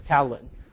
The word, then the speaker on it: Catalin: So now I have to sort of settle for the second best that the C-A-T-I-L-I-N but I still would like to pronounce it as Catalin.